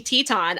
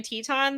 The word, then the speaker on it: Teton: because now i remember i'm so used to saying teton that when i see it spelled that way that's how i pronounce it i don't pronounce it titan always i pronounce it teton too because that's how it was pronounced a bunch of times around i